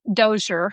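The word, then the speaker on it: DoSER: Triple AS dialogue on science ethics and religion pronounced DOER program.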